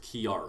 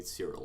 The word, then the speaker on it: Kiara: My name is pronounced Kiara. I done worse. Yes. He just calls me Cyril a lot.